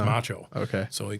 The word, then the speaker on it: Maciol: And he called me Macho Man because pronounced in Polish because it's a Polish name is Macho.